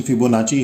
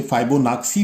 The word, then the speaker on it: Fibonacci: तो हम लोग पहले उस फिबोनाची सीक्वेंस को, इसका एक्चुअल प्रोनाउंसिएशन फिबोनाची है, कई बार इसे फाइबोनाक्सी भी कहते हैं, पर इन जनरल हम इसे फिबोनाची सीक्वेंस कहते हैं।